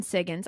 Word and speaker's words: Siggins: And, guys, we're talking to Siggins. I'm saying your last name right, right? Correct. And At least you're not saying Higgins.